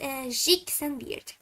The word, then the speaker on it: Zhick Xanviert: And you can see that my name is Zhick Xanviert, but pronounce it in Russian, a Russian way, by calling me Zhick Xanviert, if that sounds Russian enough.